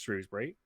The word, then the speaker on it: Shrewsbury: ex's aunt's ex-husband stag do we and it's pronounced shrewsbury get um and we were